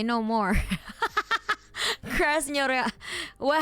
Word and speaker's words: Krasnoyarsk: Krasnoyarsk. Well, how do you say it? Krasnoyarsk? Krasnoyarsk.